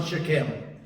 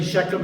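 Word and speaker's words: Shechem: important Target to Joshua shech or shim however you want to pronounce it Hebrews pronounce it shakam but if you say sheam it doesn't matter that's a very important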